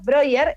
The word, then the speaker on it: Breuer: broyer que entre nosotros broyer es como se pronuncia el apellido brewer el lado tienes alguna